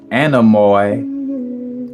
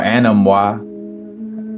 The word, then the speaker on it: Anemoi: He was associated with winds, and he was the father of the four Anemoi, or Anemoi, however you want to pronounce it, A-N-E-M-O-I.